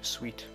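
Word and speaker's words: suite: Not suit. Sweet. Because apparently that's how you pronounce it.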